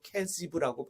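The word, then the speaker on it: כְּזִיב: 유다가 살던 도시의 이름이 거십인데 히브리어 발음으로 케지브라고 발음을 합니다.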